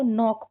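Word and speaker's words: knock: यहां पे भी के को साइलेंट रखेंगे। इसको नोक पढ़ेंगे।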